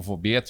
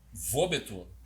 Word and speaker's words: Wobeto: Edson não, o Vobeto, né? Vobeto, pode ser Vobeto. Ou Vobeto, né? Vobeto. Pronúncia. O alemão, o Deutsch diria Vobeto.